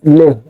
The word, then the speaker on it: Le: It's le, pronounced as le.